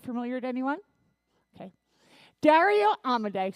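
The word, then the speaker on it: Dario Amodei: to anyone okay Dario amade say his name with me amade amade a lot of people say it wrong Dario amade was one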